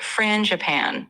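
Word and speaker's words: frangipane: flaky croissants, rich peno chocolat, and even a franapan croissant filled with almond cream. Uh, sorry, how do you pronounce that one? The frana. Yeah, no problem. It's pronounced Fran Japan.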